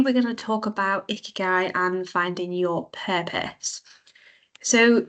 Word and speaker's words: Ikigai: Now, Ikigai is pronounced Ikigai, and it's a Japanese philosophy that helps people find a sense of purpose.